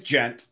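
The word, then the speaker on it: djent: It's gent, like gentleman.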